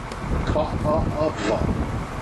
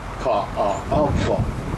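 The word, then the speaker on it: Kaʻaʻawa: The name of the valley, Ka'ava. I'll say it once more. Ka'ava. I'll spell it for you. Instead of using the apostrophe, we have something in Hawaii called the Hokina, similar. Capital K-A, Hokina-e, Hokina-e, W-A.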